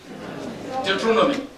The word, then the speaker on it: Deuteronomy: Is that the proper pronunciation? Deuteronomy.